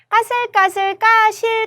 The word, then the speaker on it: 까슬까슬: 까슬까슬 표기로는 그렇게 하는 게 맞고, 그리고 까실까실이라고 이제 발음 많이 하시는데 그 발음도 틀린 발음입니다. 까슬까슬 해야 돼요.